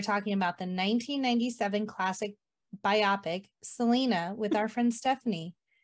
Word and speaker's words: biopic: Using the compound stress rule, the word is pronounced biopic, not biopic.